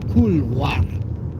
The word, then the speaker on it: couloir: That's pronounced couloir.